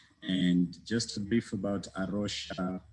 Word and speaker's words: Rocha: Yeah, I work in Kenya for Rocha, Kenya. And just a brief about Rocha, it's written Rocha, but it's pronounced Rocha.